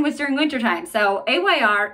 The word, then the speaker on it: Ayr: during winter time so Ayr is a nasal saline gel I think actually can be pronounced air I just always say Ayr because I don't know